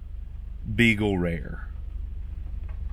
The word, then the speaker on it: Beagle Rare: This bottle is called Beagle Rare. It's like Eagle Rare, but with a B at the beginning.